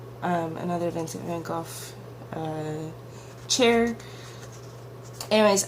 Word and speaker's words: van Gogh: Anyways, I used to say Vincent van Gogh, and I am a Whovian. I love Doctor Who, and in the Van Gogh episode, they pronounced it Gough, and ever since then, whenever I hear someone say go, I mentally correct them.